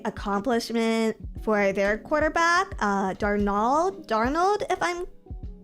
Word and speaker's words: Darnold: Darnald. It's pronounced Darnold.